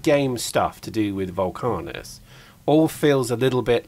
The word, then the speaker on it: Vulcanus: I'm told I'm saying it wrong all the time as well. It's Vulcanus, not Vulcanus.